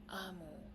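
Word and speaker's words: Omu: So this book is called Gracias Amo, Oge Mora. Nota al lector. Amo, pronunciado amo, es la palabra para reina en Igbo.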